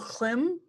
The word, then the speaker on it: Hlim: Southern slope of Mount Hlim? It's Hlim. That's how I'm pronouncing it.